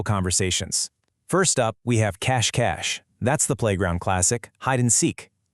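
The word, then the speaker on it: cache-cache: First up, we have cash cash. That's the playground classic hideandsek. Listen to that pronunciation again.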